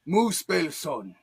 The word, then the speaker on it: Muspelson: Do a lot better if you heathens could pronounce my name. That's why I just turned it down to. It's Muspelson. Okay, I am an actual